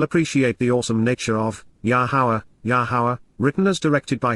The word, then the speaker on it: Yahowah: what is required to recognize, Peel perfect, Yahowah, Yahowah, the proper pronunciation of Yahowah, our Eloah, God has directed